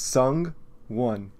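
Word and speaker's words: Sung-won: he made a freaking video about how to pronounce his name it's sung one chill yeah Pro ZD uh I do I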